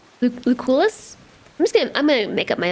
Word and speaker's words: Lucullus: Lucullus? I'm gonna make up my own name for everybody. Super sexist, yeah. C seems to be a K. Lucullus. Lucullus.